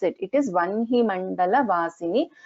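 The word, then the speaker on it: वह्नि: It is Vanhi Mandala Vasini, not Vahni. It is Vanhi Mandala Vasini. And script is also correct. Please don't get confused, and please remember to pronounce it as Vanhi itself. That is how it is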